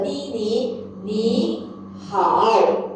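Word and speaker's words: 你好: So just for your information, both tone number 3, the first syllables we will have to turn our tone to second tone. Okay? So this pronounced as a ni hao.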